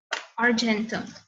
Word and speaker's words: argentum: So this one is arum, and then Ag is pronounced as argentum.